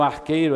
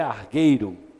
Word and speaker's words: argueiro: Onde vocês ouviram arqueiro aí é argueiro. Amém? Argueiro é a pronúncia correta.